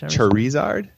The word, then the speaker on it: Charizard: so number three help me out with the pronunciation here Eric Pokemon Sharon sorry Sarge charizard charizard thank you how did I know you